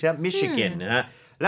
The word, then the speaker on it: Michigan: มี ชิน นะ ฮะ แต่ ว่า มัน ออก เสียง เป็น SH นะ ทั้ง ๆ ที่ สะกด ด้วย CH michigan นะ ฮะ แล้ว มี